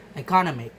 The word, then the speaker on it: economic: The derived stress economic. Economic. Economic. The stress shift from the south the second syllable C to the third syllable. No. The suffix egg moves the stress to a completely different position in the word.